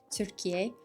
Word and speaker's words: Türkiye: But obviously to pronounce the word Turkey in the Turkish way, it's pronounced as like Türkiye.